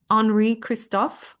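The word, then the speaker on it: Henri Christophe: So, the book is called The First and Last King of Haiti, the Rise and Fall of Enri Kristoff, I believe is how we would pronounce it in French, but my French is terrible.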